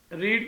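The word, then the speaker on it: read: है लिज वास बी रीड की थर्ड फॉम रेड तो स्पेलिंग वही रहते हैं लेकिन तलफ जो है वो चेंज हो जाता है रीड रेड रेड new object से पहले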